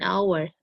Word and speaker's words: hour: For words that begin with the letter H, an is used if the H is silent, an hour, an honor, an honest person. A is used if the H is pronounced, a holiday, a hotel, a high grade.